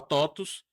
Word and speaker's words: TOTVS: E você tem muitas outras palavras, né, que são latinas que o V se pronuncia U. Exato. E aí vocês estavam aí surgiu a totus, abriu o capital e aí vocês cresceram absurdamente.